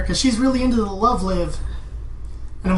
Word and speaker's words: Love Live: Like no one wants me to go and say like actually it's pronounced love live because they're live performing and like no don't do that.